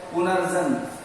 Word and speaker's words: पुनर्जन्म: हम जब कहते हैं पुनर्जन्म, तो पुनर् न के बाद र का उच्चारण हो रहा है, तो ये ज पे जाएगा और शब्द ये आपका शुद्ध है पुनर्जन्म।